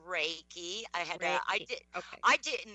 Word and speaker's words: Reiki: is animal am I gonna say this right reiky it is it's actually it's pronounced Reiki I had I I didn't know that being